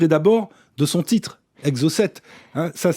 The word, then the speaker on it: Exocette: Alors, parlez-nous de ce livre et d'abord de son titre, Exo7. Ça s'écrit E-X-O-C-E-2-T-E.